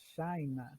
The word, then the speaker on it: China: China em português, mas em inglês a pronúncia muda, vira China, tá certo?